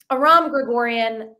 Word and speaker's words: Aram Grigorian: even more to post in the mornings um Aram Gregorian how are you can am I one of the only podcast host who's pronounced your name correctly you are well that's